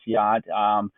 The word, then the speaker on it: Hjort: It is pronounced Yacht. I know it doesn't look like Yacht, but it is Yacht. It is Danish.